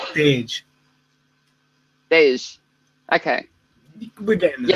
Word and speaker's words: Tej: It's with a G, isn't it? Tej. So technically, everyone says it wrong. Like it's very difficult. The actual pronunciation is Tej.